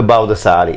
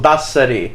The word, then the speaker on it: Baldassari: Now we usually the Baldessari. Is that how you say that? Paul said last week I was saying it wrong. Baldassari. Is it? Yeah.